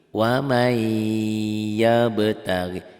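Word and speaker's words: وَمَنْ يَبْتَغِ: Waman yabtaghi, dibacanya ini. Wamai, n-nya hilang. N-nya ditelan sama y. Wamai yabtaghi.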